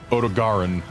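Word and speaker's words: Odogaron: eanes got an e odaran has a hard G this guy is officially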